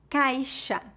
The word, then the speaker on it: caixa: Por exemplo, xícara, shampoo, caixa, peixe, enxaguar, enxugar. Normalmente, o X é pronunciado como Z quando colocado entre a vogal e outra vogal em início de palavras.